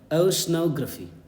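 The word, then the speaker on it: Oceanography: ओशनोग्राफी, ओशनोग्राफी, ग्राफी नहीं, ग्राफी, ओशनोग्राफी, ओशनोग्राफी, this is the correct pronunciation.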